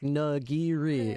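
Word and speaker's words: nigiri: It's like this nagiri."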